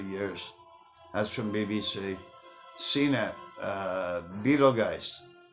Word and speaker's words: Betelgeuse: CNET, Betelgeuse, Beetlejuice, whatever you guys want to call it by, I believe the correct pronunciation is Betelgeuse.